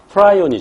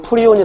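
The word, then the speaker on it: prion: 바라고 그 병 업체가 프라이 오니 줘 또는 프리온이 라고 발음합니다 단백질 썽 감염 입자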